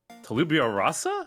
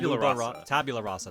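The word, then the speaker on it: tabula rasa: them which is called Tal Tal Talibia Rasa I forget how it's pronounced tab tabularasa that's the one yeah yeah where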